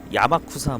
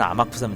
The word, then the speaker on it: 아마쿠사: 이제 아마쿠사 뭐 자꾸 뭐 야마쿠라 뭐 무슨 그렇게 발음하는 사람도 많았는데 저도 사실 그렇게 발음 했던 적이 있거든요 정확한 이름은 아마쿠사 야막 쿠사가 아니에요 어 뭐 오타나는 거야 뭐